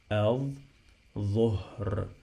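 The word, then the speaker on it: الظهر: So I have here L, but we didn't pronounce it, we drop it, the same like the previous word.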